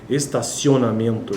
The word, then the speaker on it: estacionamento: oriundo do infixo yon ocorre em posição pré tônica estacionamento estacionamento pré tônica porque antes da sílaba tônica estacionamento mento Esse ento aí é que está a sílaba tônica eí o ditongo ocorre em estaci antes por isso que é pré tônica ocupando uma única sílaba estacionamento Note que uma